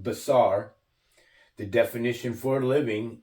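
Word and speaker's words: בשר: living is 32 20 in the Strong's it's pronounced basar the definition for a living is flesh okay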